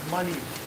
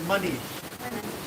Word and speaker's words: Manish: My name is Manish. Pronounced it like Manish, but Manish. Manish.